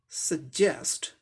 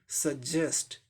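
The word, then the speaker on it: suggest: सजेस्ट, सजेस्ट, सजेस्ट, ज ऐसे करके बोलेंगे, एस्पिरेटेड सजेस्ट, इस पे जोर देके।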